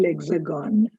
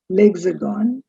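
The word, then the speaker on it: L'Hexagone: So another name for France is actually lexagon. legs are gone.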